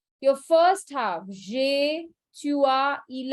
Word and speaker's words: tu as: Even if the pronunciation is a, don't just write an A.